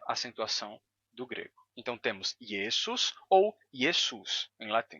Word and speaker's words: Iesus: mudar da seguinte maneira você vai ter esse som do S Entre vogais que vai se sonorizar o s vai terminar sendo pronunciado como Z yesus yesus yesus Jesus Jesus